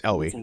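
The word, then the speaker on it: Eyllwe: It's Elwë. I know it's Elwë. Okay. I've listened to enough pronunciation guides.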